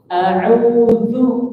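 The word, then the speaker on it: أعوذ: Tipis. Du. Bukan zu. Kan rata-rata kita bacanya seperti ini. Zu. Ya bukan gitu, tapi a'udzu, tipis zal ya.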